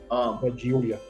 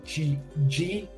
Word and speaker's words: Giulia: Julia. Because to me you spelled Julia J, not G, and so because it's Giulia, so Giulia. Yeah, I know.